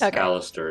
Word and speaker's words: Alistair: how you say it nick is alistair yes alistair is right where is ellis yeah